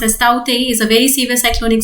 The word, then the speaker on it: Tauktae: About the news, what is the news I'm going to explain it today is that cyclone Tauktae, pronounced as Tauktae, is a very severe cyclonic storm which has developed around the Arabian Sea.